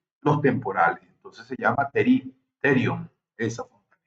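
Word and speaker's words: pterion: fontanela que se llama terio. La terio, ¿okay? esterium. La P es muda en este caso, pero se escribe así P T E R I o Nerio.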